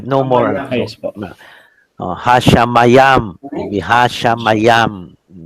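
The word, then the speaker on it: השמים: In Hebrew, it will be Hashamayim, the heavens, but never mind. Hashamayam. Correct, no? Sha, ma, Ma. yam. No? Yam. The last would be just close the syllable there, no? Sha, ma, yam. So do not read as hey, shin.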